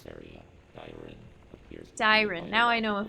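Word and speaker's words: Dairon: This area, Dyren, appears to be Dyren.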